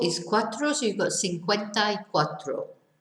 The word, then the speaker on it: cincuenta y cuatro: cuatro, so you've got cincuenta y cuatro. So remember, it's cincuenta y cuatro, but when we say it quickly and it all sort of mashes together, we end up with this I sound.